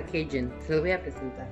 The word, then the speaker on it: Cajun: Y este es un sazón que se llama, se escribe Cajun, pero se llama Cajun.